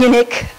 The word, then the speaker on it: Unic: It's spelled UNIC, and I'm assuming it's pronounced unique because they said that they were trying to build a car that was, unique, because they were trying to build a car that was unique.